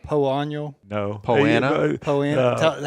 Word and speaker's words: Poa: Cody as a marketer, Jason as was it called Poano? no. Poana? Poana. How do you pronounce it? We just say POA because it is Poa.